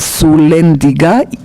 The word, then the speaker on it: Sulyandziga: En mi idioma natal se pronuncia Pavel Sulendiga, persona que no le gustan los astutos.